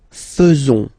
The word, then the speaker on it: faisons: So it's quite strange because French people tend to pronounce faisons. Okay? So like here, this AE is not pronounced like normally we should pronounce it like E, but then like E. Okay? Nous faisons.